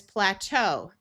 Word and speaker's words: plateau: E. A and u together have a long o in words that we got from French. So this word is plateau.